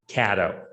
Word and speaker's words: Cato: what he did right it's actually not pronounced cato it's pronounced caddo that's the first thing